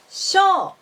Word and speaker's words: 賞: So the difference between these two words is on the length of the last vowel. Shou has 2 molar. Shou has 1 molar.